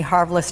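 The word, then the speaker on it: Harvilicz: you are Dr Annie haris and I'm just going to say this your last name rhymes with marvelous so if anybody's looking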